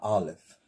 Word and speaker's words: Aleph: This letter here is the Aleph. The Aleph. Some say it has an A sound, but according to how I have been taught, the Aleph is silent.